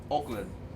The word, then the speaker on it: Oakland: [Hoy también ensaya los comentarios del concierto] Oakland. No debo pronunciar mucho la "k".